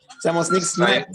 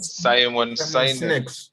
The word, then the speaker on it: Simon Sinek: I don't know how to pronounce that name. I keep killing names. Simon Sinek. Simon Sinek. Yeah, Simon Sinek.